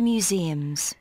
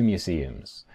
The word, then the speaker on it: museums: Como si tuviéramos dos diptongos.